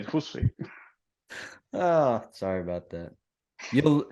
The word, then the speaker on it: Jussi: should pronounce it correctly, with the J sounding like a Y in Spanish, but no, they sound it's more like an H, so they say like Jussi.